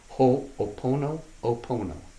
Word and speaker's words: Ho'oponopono: Ho'oponopono. How do you spell it?